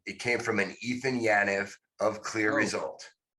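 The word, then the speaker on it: Yaniv: It came from an Ethan Yanev of Clear Result. Eitan is how he pronounces his name.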